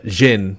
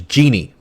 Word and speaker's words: jinn: dragons too but uh jin is how you say it or you can also angelicize the word into one we all know a lot more which is genie yep uh so knowing